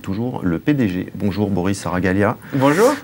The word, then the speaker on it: Saragaglia: Bonjour Boris Saragalia. Bonjour. J'ai bien prononcé, hein, Saragalia, c'est oui, pas facile. Oui, tout à fait, très bien.